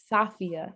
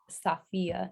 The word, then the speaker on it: Safiyyah: And he told me I was pronouncing my name wrong. I was like, it's Safiyyah. Safiyyah. He was like, you're pronouncing it like the English way, like the correct Arabic pronunciation is Safiyyah, not Safiyyah.